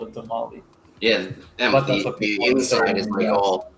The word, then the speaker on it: tamal: It's like when people say tamale. It's tamal or tamales. Like it's Tamale. you can't just take the S off the plural and call it a tamale.